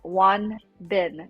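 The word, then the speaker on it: Won Bin: but the lead actor his name is one bin w-o-n-b-i-n so it's a two-syllable name which is different because um normally it's a three syllable name for koreans but wanden he's like an a-list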